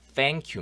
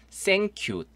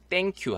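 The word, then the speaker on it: thank you: 않 아 요 자 생큐 입니다 생큐 땡큐 하지 마시고 위치 지가 혀를 살짝 무는 발음 이거든요 스뎅 키우 3번 따라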